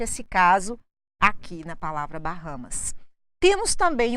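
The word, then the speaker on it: Bahamas: foi feito culturalmente aqui nós brasileiros pegamos a letra h do nome do país em inglês e colocamos o som dela em inglês e acabamos pronunciando esse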